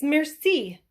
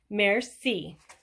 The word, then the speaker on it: merci: I teach everyone how to say thank you in French. It's merci. You say it like this, merci.